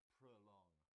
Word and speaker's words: prolong: It's got 2 syllables. The stress is on the second, and so the O in the first part sounds like prolong, prolong.